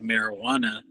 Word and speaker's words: marijuana: when you say it it sounds like marijuana and the J is silent but you know that's